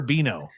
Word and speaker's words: Beano: Is Benno or Beano? Beano, because it rhymes with beans, and his nickname is apparently Baked Beano. In there, which makes it a soft end.